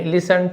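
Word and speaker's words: listen: गुरु ने लिसन T silent होता है।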